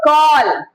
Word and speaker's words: call: मतलब अगर कोई वर्ड है जिसमें ए लिखा है और उसके तुरंत बाद डबल एल है तो आप उसको ऑ प्रोनाउंसिएट कर रहे हैं, और जैसे ALL ऑल हो जाता है, SMALL स्मॉल हो जाता है, CALL कॉल हो जाता है, और FALL फॉल हो जाता है।